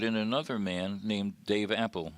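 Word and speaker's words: Appell: another man named Dave apple he is spelled Appel but it's pronounced Apple Dave had a career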